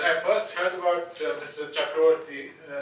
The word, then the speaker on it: Chakravarty: first heard about Mr chakroti in Bengali we pronounce it chakraborty I was very intrigued